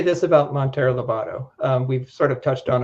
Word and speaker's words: Monteiro Lobato: You always pronounce it right. Monteiro Lobato, Brazil, and to do some serious effort in locating him.